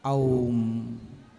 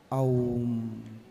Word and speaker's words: ओम: इसलिए ओम का शुद्ध उच्चारण क्या है? ओम ओम।